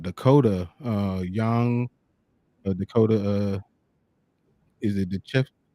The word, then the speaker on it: Decheva: Is it Dechev? How do you say her last name? Decheva.